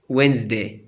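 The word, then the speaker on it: Wednesday: Silent D, डी इज not pronounce in the following common words: handkerchief, sandwich, वेंसडे। इन अल्फाज में D pronounce नहीं होता।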